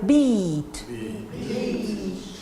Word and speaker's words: beat: Your lips are very soft. You don't have to smile. You just say bed. Is it difficult? No. And the one you smile, beat.